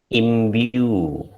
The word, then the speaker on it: imbue: So when you have the combination of these two sounds, Y and U together is pronounced as imbue.